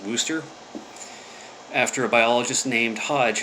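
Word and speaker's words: Worcester: clark university in uh it's spelled worchester massachusetts but i think it's pronounced wooster after a biologist named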